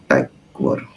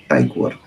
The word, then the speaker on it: Tykwer: तो आज की फिल्म है, इसका डायरेक्टर का स्पेलिंग का प्रोनाउंसिएशन बड़ा प्यारा है। टाइकवर, टाइकवर। टॉम टाइकवर।